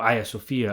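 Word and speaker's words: Ayasofya: Sultan Ahmed Mosque, and the ancient Hagia Sophia, or Hagia Sophia as the Turks pronounce it.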